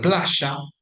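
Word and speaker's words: playa: we use it for words written with orthographic Y or orthographic double L. For example, plashia meaning beach, shria meaning rain. Those words are pronounced with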